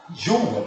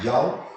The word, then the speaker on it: Joule: Trabalho, a unidade é Joule, Joule, a pronúncia correta, mas vamos falar Joule, por Coulomb.